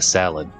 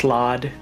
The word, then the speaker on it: slaad: control it so we need to find the salad and i'm purposefully mispronouncing it it's pronounced slaad yeah i know i i pit them against